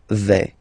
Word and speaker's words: vais: Okay, first person here, je vais. Remember, final S not pronounced.